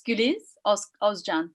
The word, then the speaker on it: Guliz Ozcan: And Guliz, am I pronouncing this wrongly? Guliz Ozcan? It's Guliz Ozcan.